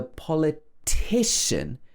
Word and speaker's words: politician: And the politician is stressed on the third syllable.